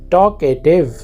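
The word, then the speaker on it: talkative: इसमें जो एल है उसको आपने साइलेंट रखना है, टॉकेटिव, इसका मतलब है बातूनी।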